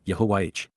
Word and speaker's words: Yahowah: The four letters wh are all vowels and are pronounced consistent with the verb which God told Moses defines his name in his tow. That is all we need to know to say Yahwh.